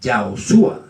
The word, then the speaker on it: Yahoshua: Moisés, que es Josué, que en verdad es Yahoshua, es la verdadera pronunciación.